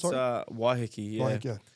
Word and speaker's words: Waiheke: Is that how you pronounce it? It's Sorry? Waiheke, yeah.